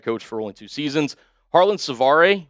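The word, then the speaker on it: Harland Svare: Harlon Savar, yes, that is how you pronounce it.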